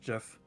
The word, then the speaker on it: GIF: That is part of the reason why the person that came up with the standard says it's pronounced GIF. Oh, so it's officially GIF. Yes. Is that right? Gosh. Nice. Technically, officially it is GIF.